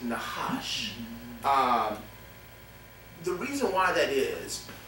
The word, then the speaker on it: Nahash: It's spelled N-A-C-H-A-S-H, but it's pronounced Nahash.